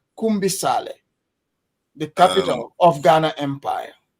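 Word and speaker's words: Kumbi Saleh: It's called Kumbi. Maybe you're not saying it right. It's Kumbale.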